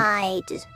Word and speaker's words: thalidomide: Thalidomide.